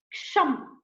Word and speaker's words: ಕ್ಷಮ್: ಕ್ಷಮ್, KSHAM, ಕ್ಷಮ್ ಕ್ಷಮ್ ಕ್ಷಮ್ ಕ್ಷಮ್. This is how you have to pronounce.